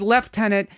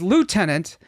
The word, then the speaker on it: lieutenant: In this episode, Scotty says left tenant and Lan says lieutenant.